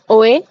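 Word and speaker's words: hoy: जो लास्ट में बोला ओए बोला क्या पता नहीं हां ओ एच ओ वाई ओए लेकिन एच तो साइलेंट है हमें पता है है है ना?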